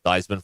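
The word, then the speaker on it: Theismann: throughout history Joe thyman was Joey theeman until his senior year when the uh the Sid at Notre Dame named him to rhyme with th with Heisman Theisman for Heisman yes that's right and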